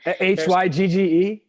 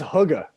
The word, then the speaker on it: hygge: how to pronounce it hygge yes okay i think it's hugga i think it's yeah something like that yes i still don't